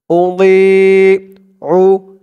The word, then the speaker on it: أضيع: আর দোয়াদের উচ্চারণটা খেয়াল করবেন, একেবারে দি বলা যাবে না। দি বললে কিন্তু এই দোয়াদের জায়গায় দালের উচ্চারণ হয়ে যাবে।